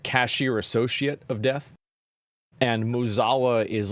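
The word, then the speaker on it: Mueh'zala: I didn't make it this far in the expansion because I wasn't enjoying it, but I was excited to learn about Muzala.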